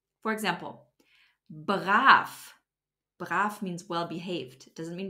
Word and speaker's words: brav: to talk about is the letter V which turns into an F at the end of a syllable or a word for example baraf means well behaved doesn't